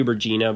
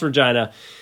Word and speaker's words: Regina: kind of comical because it it should be Regina but it's pronounced Regina but we put it all on the line